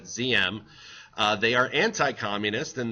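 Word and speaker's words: Diệm: led by noen ZM so you would pronounce that ZM uh they are anti-communist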